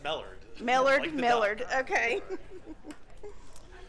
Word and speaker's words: Mellard: It's pronounced Mellard.